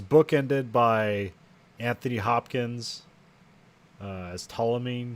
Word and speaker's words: Ptolemy: But like it's bookended by Anthony Hopkins as Ptolemy. I think that's how you say his name. Starts with a P and a T and Ptolemy.